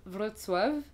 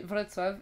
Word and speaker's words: Wrocław: Et le genre le C tu le prononces T, le L c'est un L barré donc c'est W, bref, voilà, donc c'est Wrocław.